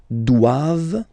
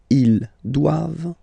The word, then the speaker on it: doivent: All right, and then the last one, ils doivent. So same thing, classic ending for the plural form, ENT here, okay, but then you don't pronounce it. Doivent, doivent, elles doivent, ils doivent, elles doivent.